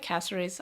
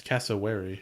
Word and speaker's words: cassowary: cassery i really like casserys i have a lot of time for casserys they're probably my favorite bird that's why you don't include that extra syllable name you keep saying cassery it's cassowary i'm not wary of